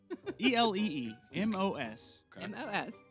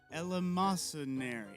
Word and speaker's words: eleemosynary: ELEEMOSYNARY. YN. ARY. Eleemosynary.